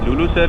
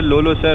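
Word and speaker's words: Lulusar: अच्छा, चले जनाब, हम पहुँच गए लुलुसर लेक. लुलुसर, लोलोसर, व्हाटएवर, क्योंकि लोकल नेम है तो हम लोग इसको कुछ भी प्रोनाउंसिएट कर देते हैं. एग्जैक्टली यहाँ लोकल जो है वो लुलुसर ही इसको बोलते हैं.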